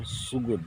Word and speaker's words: Sugud: Tapi dia punya ejaan yang betul, Sugud, S-U-G-U-D, Sugud, Sungai Sugud.